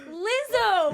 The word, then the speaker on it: Lizzo: Lizzo.